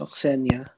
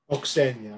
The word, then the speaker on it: Osena: Also, it's pronounced Oxenia. Oxenia, all right.